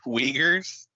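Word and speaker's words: Uyghurs: you call me yeah is that really how you say it Wagers it sounds that's how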